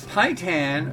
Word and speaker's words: Paitan: this this man rock ooh Japanese ramen chicken pie tan flavor hi tan rhymes with chitin and Chi Thanh is where the